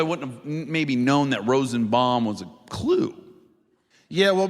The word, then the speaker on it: Rosenbaum: It's Michael Rosenbaum. It's too long, so it's Rosenbaum. Yeah. It's Rosenbaum. Yeah. But he got so mad because I But mispronounced do you my think name.